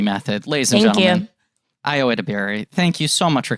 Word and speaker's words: Edebiri: Yeah, well, okay, I'm going to say one thing that is it's Edebiri.